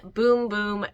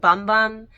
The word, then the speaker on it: Bum Bum: that is the Brazilian boom boom cream it looks like bum bum but yes it is pronounced Brazilian boom boom cream this one right here